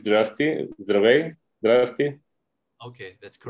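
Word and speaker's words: Здравей: It's Drafty, Zdravey, Drafty.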